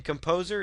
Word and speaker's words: KompoZer: Again, Composer is spelled Kompozer. So if you are watching this and wondering what software I'm using, it's called Composer.